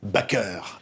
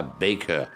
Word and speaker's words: Baker: au panthéon joséphine baker elle voulait qu'on dise bakker à la française et oui elle était devenue tellement française que l'église et moi je préfère qu'on prononce à la française bac est à nous pas baker oui mais voilà l'idée